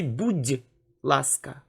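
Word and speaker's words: будь ласка: language you can say buddhalaska and pay attention here is a soft sign that softens the letter d we say buddhi laska buddhi laska also i want to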